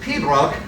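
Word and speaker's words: pibroch: up with that is uh gaelic uh and pronounced pedroc but is about 45 letters long and uh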